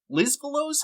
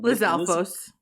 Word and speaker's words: Lizalfos: Lizfalos? How do you say that name? Lizalfos. Lizalfos? I said it right.